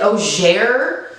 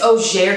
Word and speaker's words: Auger: Her name is is it Auger? I'm assuming it's Auger because this is France.